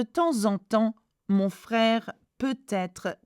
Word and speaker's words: peut-être: And you can do the liaison, peut-être. Again, T is pronounced because être begins with a vowel.